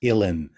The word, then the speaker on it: Uilleann: It looks like Julian, but it's pronounced Illin, like I'm chilling with the Illin.